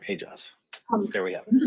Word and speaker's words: Aejaz: Do we have a correct pronunciation of his name? That's the best information I was told. Sorry? Aejaz. Oumair Aejaz.